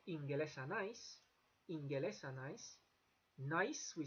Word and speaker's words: Ingelesa: You'll notice that the G before the E there, it's not pronounced anything like the Spanish G. It's like an English G all the time. Always a hard G. Ingelesa nice, and you have to have that E between. You can't say Inglesa because Basque doesn't like that.